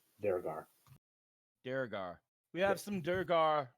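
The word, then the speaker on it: Duergar: Yeah, Drugar. Durgar. Drogar. Durgar. We have There's no R at the beginning. It's at the end. Durgar.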